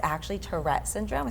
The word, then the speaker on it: Tourette: about Tourette Syndrome or Tourette's. Tourette. Again, you I can say feel like I'm Tourette. saying it wrong. I know. Tourette We're going to drop the syndrome. S. I'm going to drop the S.